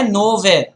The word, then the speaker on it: nowhere: NOWHERE हा शब्द आहे नोवेअर. पण जर का आपण मध्ये स्पेस दिली आणि स्पेलिंग जरी तेच राहिलं तरी तो शब्द होईल नाव हिअर.